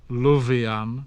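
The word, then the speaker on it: lufian: Generally speaking, the voiced sounds z occurred between vowels. So thenchan, to think, but other, other. Leof, dear, but lovian, to love.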